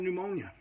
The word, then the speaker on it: pneumonia: I went to the hospital, and sure enough, I had pneumonia. Pneumonia! That's spelled with a P.